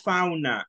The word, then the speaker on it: fauna: En lugar de fauna, no es fauna. Es con O. Fauna. Fauna. Flora and fauna. That's it. No es fauna, right? Fauna is like very Salvadorian. It's in Spanish, right? So it is fauna, all right?